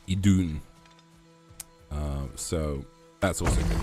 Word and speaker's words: Idun: wrong I found out I've kept calling them the apples of aun it's uh idun uh so that's also